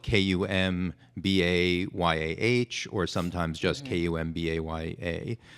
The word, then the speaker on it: Kumbaya: Kumbayah, or sometimes just Kumbaya. So Kumbaya, and then people started to pronounce it Kumbaya because they saw the spelling.